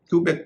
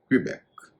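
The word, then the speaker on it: Quebec: Canada के प्रांत भी है इसे कई लोग क्यूबेक कहते हैं इसका सही उच्चारण है कबक क्श क्वास अंत में जड है उसका उच्चारण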